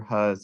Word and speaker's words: He: Hu's experiment. We pronounce that Hu. It looks like he. It's really confusing because it's like in articles, it's like he did this.